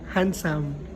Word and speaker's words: handsome: more ch handsome again handsome correct handsome It's silent letter D So you got 10